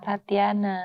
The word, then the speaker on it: Tatjhana: agak bingung mau nyebutkan sebenarnya bacanya Kak Jana atau Kak Tatiana Tatiana.